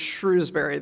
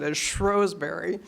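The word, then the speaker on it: Shrewsbury: Benedictine Abbey in what I always read as Shrewsberry they actually pronounce it Asberry uh it was a real Benedictine ABY they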